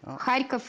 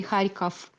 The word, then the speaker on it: Kharkov: is the Russian version Kharkov is the Russian version high key for the Ukrainian version okay our languages are very